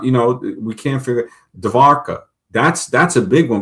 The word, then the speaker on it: Dwarka: Uh Dwarka, d w a r k a. Cuz, you know, they pronounce the w as a v.